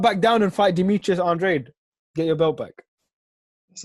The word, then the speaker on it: Andrade: Usually, if a Mexican fighter's got that surname, it is Andrade. But for him, it is Andrade. Like, I've interviewed him and he said specifically, that's how you pronounce my name.